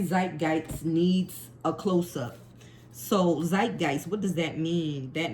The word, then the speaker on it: Zeitgeist: And then every Zigest, I know I'm not pronouncing this right, and I even had my phone pronounce it. Hold up, let me see if I can find it. I don't think I think so every here it is. Zeitgeist. Zeitgeist.